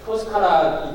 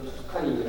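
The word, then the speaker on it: Toscana: 그리고 여기도 토스카나 이태리 발음으로는 토스카나인데 이제 영어식으로는 투스카니로 해서 피에몬테 요 지역이 요게 바롤로라고 여기 하나 있습니다.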